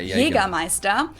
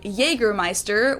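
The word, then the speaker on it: Jägermeister: From shoes to alcohol, this is pronounced Jagermeister in German. Yeah, Jagermeister. English speakers usually say Jagermeister, which is pretty much the same, just with a pretty thick accent.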